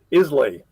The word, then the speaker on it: Islay: Because at first I was saying Islay before it was made. It's not Islay, it's Isla, as I found out.